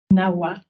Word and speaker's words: Nahua: Balderas s'intitulent Agentivité et pratiques socioculturelles des enfants Nahua en situation de handicap dans la région sud de la Huasteca Potosina au Mexique. Est-ce que je prononce bien? Nahua.